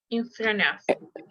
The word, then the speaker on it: in front of: So I want you to pay attention how I pronounce this one because we can actually drop this letter, the letter T.